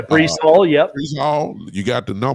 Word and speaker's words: Breece Hall: good running back and Bryce Hall? I believe I pronounced him right. Yeah, Breece Hall.